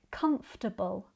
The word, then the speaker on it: comfortable: But, because this is an unstressed suffix, we reduce the vowel sound. So, instead of a clear table ending, it sounds more like turble.